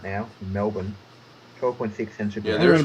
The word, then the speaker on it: Melbourne: How do you pronounce that city name, Sam? Melbourne. Say that slower. Melbourne.